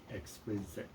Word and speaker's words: Xkwizite: It was Yeah, I didn't know what to expect with that name, because it's spelled Xkwizite. exquisite.